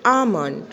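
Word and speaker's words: almond: Second one इज़ आमंड। आमंड में L silent है, जो कि ब्लू से लिखा गया है।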